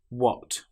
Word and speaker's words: what: Another common example is when you have wh together. Some very common words have this combination of letters. For example, what, which, where. In these cases, the H sound doesn't exist.